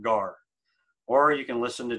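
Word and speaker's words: γάρ: form and the transliterated if you wanted to try to pronounce that how would you pronounce it you transl pronounce that gar or you can listen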